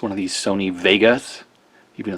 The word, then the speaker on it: WEGA: one of these Sony Vegas even though it's a w it's pronounced V like the old German pronunciation December 2004 manufacturer date